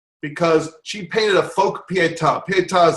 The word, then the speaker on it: Pietà: Pietà, it's spelled P-I-E-T-A.